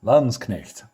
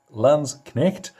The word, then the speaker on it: Landsknecht: in Germany will attest there's a K in there so you pronounce it now these guys were